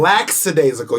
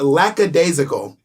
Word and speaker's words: lackadaisical: the knee you're silent laxadaisical you're adding an s or an x that doesn't exist it's lackadaisical i pronounce that